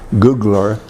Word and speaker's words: Gugler: your name please my name is D Googler that's spelled g ug l er I live in